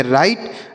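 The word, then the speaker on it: right: और जी एच टी अगर किसी भी शब्द में लिखा रहता है तो उसे हम ट पढ़ते हैं। क्या पढ़ते हैं? ट। तो इसे पढ़ेंगे राइट।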